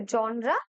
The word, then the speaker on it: genre: ঠিক আছে, জনরা, GENRE, এটা কিন্তু প্রোনাউন্সিয়েশন আসে জনরা।